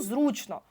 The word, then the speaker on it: зручно: на телефоні буде стояти наголос і зручно наголос на у зручно чи зручний Да у